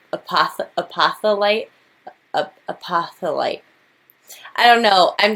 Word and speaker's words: apophyllite: So yes, I pronounce things wrong, but I just remembered it's not apophyllite. It's pronounced apophyllite.